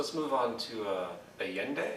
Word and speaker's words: Allende: move on to uh alien day is that the pronunciation yeah well alien day again president